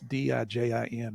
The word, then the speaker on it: DIJIN: It's DIJIN is how you pronounce it.